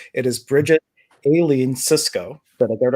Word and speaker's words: Bridget Aileen Sicsko: If you've been following me since this morning, I have a very special guest, and I'm hoping to pronounce the name correctly. It is Bridget Aileen Sicsko.